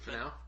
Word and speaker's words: Finau: Finau.